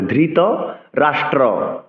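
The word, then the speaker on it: ধৃতরাষ্ট্র: হবে ধৃত রাষ্ট্র উবাচ ধৃত ধরকার ধ মহাপ্রাণ উচ্চারণ করতে হবে ধৃত রাষ্ট্র অনেকে রাষ্ট্র বলে এক্ষেত্রে র ফল উচারণ করতে হবে ধৃত রাষ্ট্র উবাচ ধর্মক্ষেত্রে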